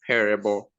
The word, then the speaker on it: Perebo: your name okay um it's a native name in Nigeria it just be precise it's pronounced Parable okay nice nice so